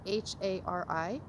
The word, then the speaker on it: Hari: So it's spelled like H-A-R-I, Hari. So you're rolling the R. You can pronounce it like a D if you need to.